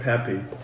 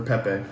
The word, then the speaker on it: Pepe: We got Frank Pepe, or Pepe. I say Pepe. However you want to pronounce it.